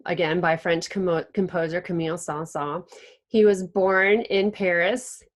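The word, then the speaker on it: Saint-Saëns: if you don't know in French you don't pronounce all the letters so this is just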